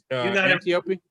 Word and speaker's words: Antiope: Hippolyta is her mother, and her mentor is Antiope.